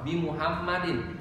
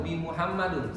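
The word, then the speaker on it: بمحمدٍ: Ini dibaca kasroh karena ada huruf jar berupa bi di sini. Jadi dibacanya kasroh bi Muhammadin. Tidak lagi dibaca Muhammadun atau bi Muhammadun, salah. Tapi harus kita baca bi Muhammadin.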